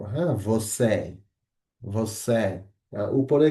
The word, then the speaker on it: você: এখন যদি আমরা এই যে একটু আগে বলছিলাম ইটাকে, এখানে লেখা আছে যদিও বাট এটা উচ্চারণ হবে হচ্ছে এ। হ্যাঁ, যখন এটা কোনো শব্দের আগে পরে থাকবে সবসময় আমরা এটাকে এই উচ্চারণ করব। হ্যাঁ, você, você।